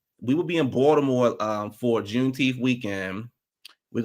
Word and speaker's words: Baltimore: We will be in um Baltimore because you know the T the T is silent. We will be in Baltimore um for Junth weekend.